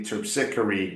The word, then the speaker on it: Terpsichore: Okay, but definitely terpsichore rhymes with trickery.